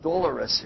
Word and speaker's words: Dolores: Your pronunciation is different than the American pronunciation. You wouldn't even know that the American pronunciation came from that word. So our name Dolores, we pronounce it Dolores in the United States.